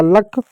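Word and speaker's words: luck: का ल लिख दो यू के लिए औ की मात्रा कुछ नहीं होती है छोड़ दो सी के को क लिख दो हो गया लक उसी प्रकार प्यारे बच्चों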